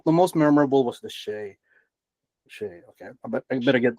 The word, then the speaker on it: SHAI: I was corrected with the way I pronounce shy. Shay.